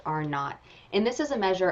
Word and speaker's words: R naught: It looks written out like R0, but it's pronounced R naught.